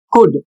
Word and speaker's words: could: अगला शब्द है COULD और इसको पढ़ा जाएगा कुड और इसकी हिंदी होती है सकता था।